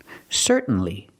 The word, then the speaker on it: certainly: I Fall To the End sound c c certainly certainly it means the same thing as of